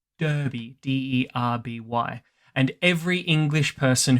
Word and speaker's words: Derby: or a name, because the name is pronounced the same way, even if it's spelt with an E. But here in Australia, we were just like, "Oh, look, D-E-R-B-Y, Derby."